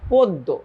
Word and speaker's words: পদ্য: আচ্ছা, এরপর যদি জ ফলা থাকে, মনে রাখো এরপর যদি জ ফলা থাকে, তাহলে অ এর উচ্চারণ ও এর মতো হয়ে যায়। তাহলে কি হবে? পদ্য, নট পদ্ম, পদ্য। তাহলে এইটা কি হবে? এটার উচ্চারণ, এটার উচ্চারণ হবে হচ্ছে পদ্য।